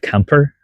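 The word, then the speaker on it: Quimper: I moved here 1 day trip to a city called Camper. It's the pronunciation on French.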